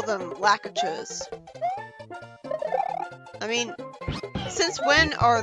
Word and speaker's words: Lakitu: so annoying yeah those are those are technically pronounced lucky twos but I don't give a it sounds way too Japanese so I just prefer to call them lack of chose I mean since when are there really Japanese